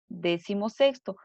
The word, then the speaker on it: decimosexto: este fenómeno de que si lo pronunció en una sola palabra la fuerza de voz y recae sobre la penúltima sílaba que sería sexto sexo